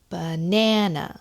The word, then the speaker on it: banana: an example in English we'll say banana so the stress is on the second syllable and then in Korean